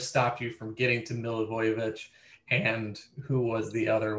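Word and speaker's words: Milivojević: That's not even close. It's like Milivojevic. Milivojevic. We've done this on the You've literally told me how to say it, and I always try to get cute. Milivojevic. There you go.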